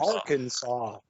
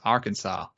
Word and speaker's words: Arkansas: Arkansas. You don't say it properly. It's Arkansas. Arkansas.